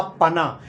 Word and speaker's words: पना: उससे बनता है और उसे हम कहते हैं आम का पना कई लोग इसे आम का पन्ना भी प्रोनाउंस करते हैं का पन्ना कई लोग